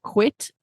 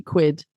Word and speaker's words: quid: And it's with a D, just to say it for the listeners, if you can get it, it's not quit. It sounds a bit like quit, but it's with a D, quid.